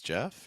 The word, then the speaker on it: Geoff: Hello, my name is Geoff. It rhymes with breath.